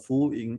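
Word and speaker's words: Fu Yin: very interesting chart because this is called a full ink chart so let me type it down what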